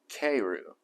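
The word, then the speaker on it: かえる: The Japanese word for return home and frog are both pronounced keiru.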